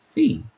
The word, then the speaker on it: phi: the from the beginning, the pronunciation is supposed to be fe E, which I would think that says FE could be F, but I definitely don't think that sounds like pi, which is the ratio